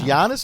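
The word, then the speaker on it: Giannis: way before these cats Yanis be honest it's Yanis nothing honest how do you say his last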